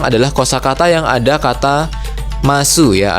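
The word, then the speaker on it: ます: ada kata masu ya atau bacanya ini bukan masu ya, tapi mas gitu ya. Nah, dia sama kayak des ya. Jadi penulisannya kan desu tapi bacanya des. Nah, mas ini juga sama ya penulisannya masu tapi bacanya mas gitu ya.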